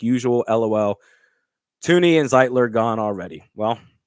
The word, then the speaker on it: Thuney: Joe Thuney, what? That's not how you pronounce his name. It's Joe Thuney, man.